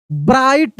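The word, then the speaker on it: bright: है नाइट सॉ अ ब्राइट यहां जी H silent है ब्राइट साइन क्या है साइन।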